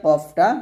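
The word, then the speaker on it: ق: উপরের তালুর সঙ্গে লাগিয়ে কফটা মোটা করে কফটা কি করে মোটা করে এবং পাল্টা আওয়াজ করে পাল্টা আওয়াজ করে কফটা উচ্চারণ করতে হবে এভাবে তফ লাস্টে বাতাস বের করবেন তফ এরকম ভাবে উচ্চারণ করবেন কফ বলবেন না বলতে হবে কফ এভাবে আপনারা কফটা উচ্চারণ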